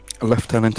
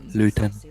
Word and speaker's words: lieutenant: what weird to me the word left tent when it's spelled lieutenant leftenant is the correct way of saying it is it Luton is the American bastardization so I Ichabod